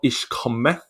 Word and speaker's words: Ich komme: She's back with a song called Ich komme.